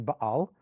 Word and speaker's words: Baal: That's some people, but it's actually Baal. That's how you pronounce it.